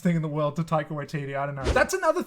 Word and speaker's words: Taika Waititi: one hundred percent accurately take away td that's how i say it that's how i think it's pronounced but if it's not